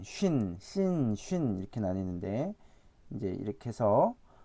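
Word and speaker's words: שׁין: 그래서 얘는 이제 쌍시옷에 발음이 나고 얘는 이제 SH 발음 있죠. 이제 쉬 발음. 그래서 그 발음이 난다고 보면 되겠습니다. 그래서 쉰 어차피 이 발음이 그대로 나는 거죠.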